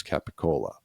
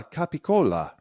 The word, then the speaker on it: capicola: Now try to pronounce capicola. The C sounds, which are really K sounds, become voiced, so they turn into G.